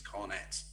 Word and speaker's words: Cornet: it's mr maxwell cornett please pronounce it correctly next season if he's in premier league it's cornets okay so that's my first